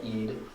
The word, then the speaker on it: Eid: It's called Eid, and it's spelled like this: Eid, and Eid al-Fitr, which is the holiday of Ramadan, the month of fasting.